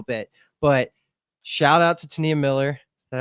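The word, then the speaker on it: T'Nia Miller: But shout out to Tania Miller. Is that how you pronounce it, Jimmy?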